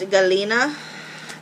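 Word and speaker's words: galena: it with my hands so again that is pronounced Galina and it is poisonous so please don't touch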